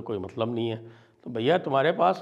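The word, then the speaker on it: junta: बना था और म्यानमार हुता के साथ में पैक्ट हुआ था म्यानमार हुता जे यू एनटी लिखते हैं अंग्रेजी में लेकिन प्रोनाउंस करते हैं उसको हुता और वो होता है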